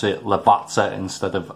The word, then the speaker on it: Lavazza: section that i'm pronouncing lavazza wrong and it's pronounced lavazza because a double z in italian is like sort of like pizza it was explained to